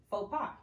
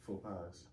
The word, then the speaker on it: faux pas: Faux pies. Okay. Faux pies? No, faux pas. Yeah, DJ said it right.